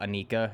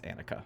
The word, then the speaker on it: Anika: I've seen this movie multiple times and I always think it's uh Anika and it's it's Anakah.